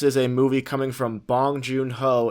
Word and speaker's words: Bong Joon-ho: Bong Joon, how do you say his name? Bong Joon-ho.